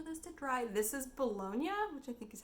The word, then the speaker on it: Bologna: just waiting for this to dry this is bologna which i think is how you pronounce the city in italy um and saint